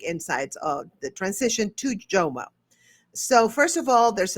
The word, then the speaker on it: JOMO: Is it JOMO, FOMO, JOMO, right? Am I saying it right? Yeah, it's JOMO, the joy of missing out. Yeah, because I said JOMO. I kind of like Latinize it. You know what I mean? Like it's You're like YOMO.